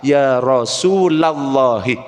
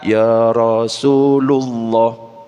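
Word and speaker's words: يا رسول الله: kasr contohnya rasulullahi rasulullahi kalau dikasih Iya di depannya maka yang tengah itu jadi fathah ya rasulallahi makanya kalau kita selawat Ya Rasulallah bukan Ya Rasulullah mulut susah salah kalau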